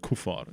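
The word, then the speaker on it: kuffar: Or Kufar, I think they would pronounce it more like Kufar, the the unbelievers. Um Yeah, that's like Well, in in South Africa they would say Kaffir.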